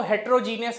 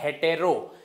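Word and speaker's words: heterogeneous: दूसरा, बहुत सारे लोग इसको हेट्रोजीनियस हेट्रोजीनियस हेट्रोजीनियस बोलते हैं. अगर आप करेक्ट प्रोनाउंस करेंगे तो आपको सही स्पेलिंग मिल जाएगी. इसे बोला जाता है हेटेरो.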